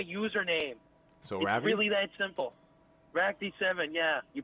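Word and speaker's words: Ractii7: call me my username so really that simple RAC d7 yeah you pronounced it right alright probably not gonna be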